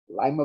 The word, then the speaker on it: lima: that brussels sprouts asparagus lima beans named for the capital of peru but pronounced like the ohio town i still wonder never